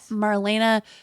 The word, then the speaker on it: Marlena: At Marlena Teresa, Theresa. Maybe it's Teresa, but it's Marlena is how she pronounces her name.